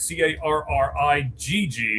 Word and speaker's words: Carrigg: You got Cole Craig, and Craig is spelled all kinds of weird, or Carrig, I guess is actually how you say it, Carrigg.